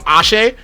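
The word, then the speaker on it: axé: energy, the essential energy being like ashe, or like I think it was spelled like AXE.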